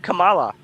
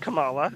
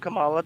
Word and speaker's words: Kamala: no no it's people Trump said Camala he started saying Kamala because he didn't know how to say her name and then he said it to be spiteful after he got after he learned the right way to say it just because he knew